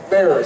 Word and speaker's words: Bexar: Anybody from Bear County? All right. Bear spelled Bexar. B-E-X-A-R.